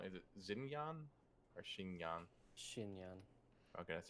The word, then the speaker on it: Xinyan: I'm probably pronouncing her name wrong. Is it Xinyan or Xinyan? Shinyan.